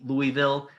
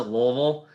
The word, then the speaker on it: Louisville: university university your city you can say louisville the locals pronounce it louisville so you choose it